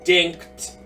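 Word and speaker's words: Dincht: tell you punch and it worked it's dinked d-i-n-c-h-t I have a really hard time pronouncing things with CHT so dick dink on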